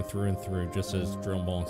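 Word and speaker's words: Drumont: A veteran through and through, just as Dromont said. Good. We have lost... I guess it would be Dremont. I'm pronouncing the L's too much. And I know French names, it's more of an E sound.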